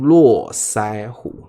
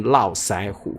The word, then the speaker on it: 络腮胡: 络腮胡，台湾会念络腮胡，络腮胡。好，OK，那就看你在哪里，你就用那个发音啊。